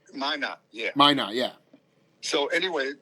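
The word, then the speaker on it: Minot: going back to minutes Studio how do you pronounce it m i n o t Mina yeah Mina yeah so anyway those so I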